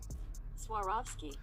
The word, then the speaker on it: Swarovski: Next up, we got a collab on the Air Jordan 1 Retro that I'm gonna butcher the name, so this is how you say it actually. Swarovski.